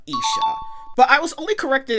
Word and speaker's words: Isha: way I knew of Aisha's name before the series came out and my American ass pronounce her name as Aisha instead of Isa but I was only